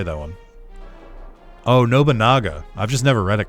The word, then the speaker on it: Nobunaga: Did I just say Nobunga? How do you actually pronounce his name?